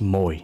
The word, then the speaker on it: Mồi: This is pronounced as Moi in Vietnamese. But to simplify this, let's say this is Moi, similar to koi fish.